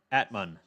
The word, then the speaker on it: Atmane: That's how they pronounce his name. Atmane. Not Atman. Atmane.